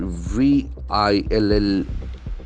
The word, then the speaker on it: villain: Then we have a beautiful word, VILLAIN. This is probably a very common word for most of us, but it's an English word. Villain. Villain. Villain. The accent falls on the first syllable.